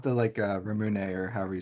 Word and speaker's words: Ramune: I think it's Ramune. Yeah, you're right. Ramune. The Mhm. emphasis is on the mu.